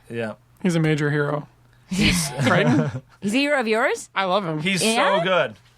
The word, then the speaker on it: Crichton: And then Michael Crichton, however I can never remember how to pronounce it. Definitely Crichton.